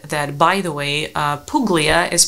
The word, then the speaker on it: Puglia: by the way uh Puglia is pronounced Puglia so g is silent and you so comments